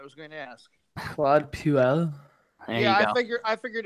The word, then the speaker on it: Puel: Claude Puel. There you go. I figured it rhymed. Yeah. I figured it rhymed with fuel.